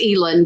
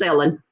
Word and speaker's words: Elin: It's spelled Elin. And for a long time, I thought it was Elin, but it turns out it's Ellen.